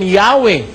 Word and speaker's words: Yahweh: while inclining to view the pronunciation Yahwe as the more correct way we have the form Jehovah because of people's familiarity with it since the 14th century niyo tagalugin natin bagaman